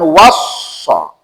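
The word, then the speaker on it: وصّى: Wassa itu menunjukkan makna serius, makanya bacanya tasdid. Karena tasdid itu artinya serius. Makanya bacanya beda tuh. Was, ada tekanan tuh. Kalau ausa enggak ada tekanan.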